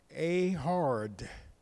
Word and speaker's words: Ehud: is pronounced in Hebrew a hard a hard Hebrew a hard rather than in English the way it appears to be and so uh the